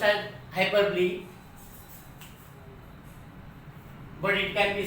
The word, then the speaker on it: hyperbole: Pronounced as hyperbole, but it can be said hyperbole if you want to remember it.